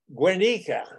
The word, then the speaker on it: Guernica: He and I developed over adult beverages a fond conversation about Guernica. That's how he tells me I should pronounce it, the town in northern Spain that Hitler and Franco decided to practice bombing raids on.